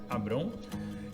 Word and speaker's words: Abrão: Vamos cuidar aqui com a pronúncia, ele ainda é Abrão.